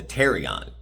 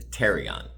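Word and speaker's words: pterion: That's called the terrion. Again, one on either side, the terrion. It spelled with a P pt, but the P is silent.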